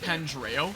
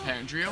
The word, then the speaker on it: Pandreo: Also, it's pronounced Pandreo, not Pandrio.